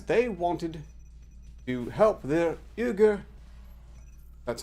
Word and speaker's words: Uyghur: for biden because they wanted to help their euger that's how it's pronounced directly brothers and sisters in china the